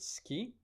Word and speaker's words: ski: so you would say the word ski the K is not aspirated but so this rule